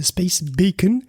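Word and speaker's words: Space BACN: Et oui, c'est prononcé Space Bacon. J'aime le bacon. Tout le monde aime le bacon. Bacon pour Space Based Adaptive Communication Node.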